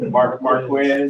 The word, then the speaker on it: Marquez: Don't say my name wrong, people. I got you. Marquez.